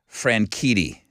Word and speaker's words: Franchitti: Indianapolis 500 driver was Franchitti okay now his name is spelled f-r-a-n-s-h-i-t-t-y and he's saying it over and over I go Travis have you checked to see how to say that man's name he goes yes I